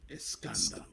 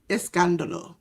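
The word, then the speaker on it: Escándalo: Uh Verano del Escandalo. That's how you pronounce it, Jay Lethal? I covered the first week. Escandalo. Escandalo, okay.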